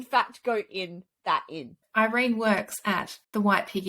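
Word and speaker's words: Yrene: girl called Irene yet it's spelled with a Y which is just done this yeah and confusing yeah my brain thought it was urine but it's Irene it's Harmon Irene I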